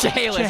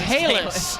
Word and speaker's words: Chehalis: It's Chehalis. Chehalis. Thank you to our producer Dave Norman. In the truck. It's Chehalis.